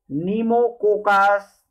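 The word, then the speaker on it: Pneumococcus: bacillus, उसके बाद है नीमोकोकस, यहाँ पर पी साइलेंट है, नीमोकोकस।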